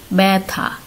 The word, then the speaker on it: ব্যথা: যেমন ব্যথা, আমরা উচ্চারণ করছি ব্যথা।